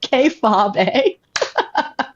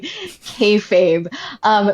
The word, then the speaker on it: kayfabe: And so on the podcast, I pronounced it K-Fob-A. And Oh it my was like God. a major hooked on phonics moment. Like, the listeners were explosive in letting me know that it was actually kayfabe.